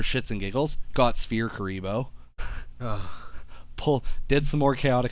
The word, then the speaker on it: Kuriboh: kind of cute yeah it was like Kariba I like know kuriboh they're fun fact there